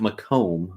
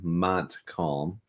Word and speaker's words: Montcalm: still Central montc County not mome Montcalm I know that's been a pronunciation issue in the past yeah